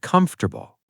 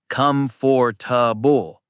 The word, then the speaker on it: comfortable: For example, the word comfortable. Oh, that word. So many people say it wrong. They say, comfortable, 4 syllables. But the real pronunciation is... Comfortable, 3 syllables. The middle part disappears.